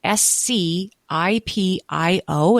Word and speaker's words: Scipio: had to explain like his mom would have to say it's Scipio.